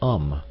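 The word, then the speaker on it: homme: a piece of bark he learned from darno that it was pronounced um and in the same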